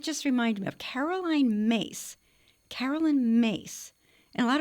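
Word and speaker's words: Myss: Oh, it did just remind me of Caroline Mace, Carolyn Mace, and a lot of people pronounce it mis, but she pronounces her.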